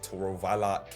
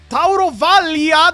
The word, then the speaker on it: Taurovalia: us today "Custodian Calladayce TUROVALA Kesh *anger* It's a shitty name anyway, i don't care WHY CAN'T THIS MAN PRONOUNCE ONE NAME IN THE CORRECT WAY CALLADAYCE TAUROVALIA, THERE IS AN "I" HERE KESH "However a squad